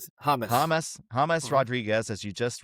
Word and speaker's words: James: But their biggest addition in 2026 is Colombian superstar Jame. Is that how you pronounce? Hamus.